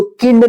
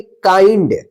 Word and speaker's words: kind: उच्चारण, तो KIND, इसको किंड नहीं पढ़ेंगे, क्या पढ़ेंगे, काइंड। क्या पढ़ेंगे, काइंड। जब भी आई के बाद ND रहता है तो इसको आई उच्चारण होता है, ठीक है ना, और